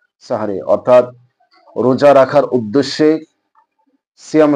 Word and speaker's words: সাহরি: পরিভাষায় বলা হয় সাহারি আমাদের দেশে এই শব্দটা ভুল উচ্চারণ করা হয় অনেক মানুষই গ্রাম অঞ্চলের বিভিন্ন অর্থাৎ অনেক অশিক্ষিত মানুষ অথবা না জেনে না বুঝে মানুষ এই ধরনের উচ্চারণ করে এটাকে সেহরি বলে জের দিয়ে দিয়ে সেহরি শব্দ বললে এটা বলা হয় জাদু আর সাহনুন বললে বলা